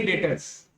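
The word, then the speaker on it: debtors: अभी डेप्टर पढ़ा जाता है ना, बट डी यहाँ पे साइलेंट रहता है। क्या रहता है? तो इसलिए इसको डेटर्स बोलते हैं। क्या बोलते हैं? लिखेंगे डेप्टर्स लेकिन पढ़ेंगे क्या? डेटर्स। ठीक है, डी साइलेंट रहेगा।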